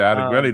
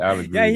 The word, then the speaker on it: Allegretti: He said Allegretti the first time.